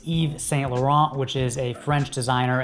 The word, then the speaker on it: Yves Saint Laurent: have YSL which is pronounced differently than it's spelled I was butcher it but it's Yves Saint Laurent which is a French